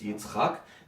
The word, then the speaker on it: Yitzchak: It's a hard word to pronounce because it's Yitzchak.